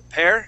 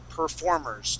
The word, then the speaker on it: performers: at the very beginning you had said uh um perir performers instead of saying perir we say per performers try that please performers performers good all